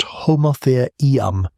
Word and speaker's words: Homotherium: And Homotherium, pronounced Homotherium, the scimitar-tooth cat, around 400 lb, long in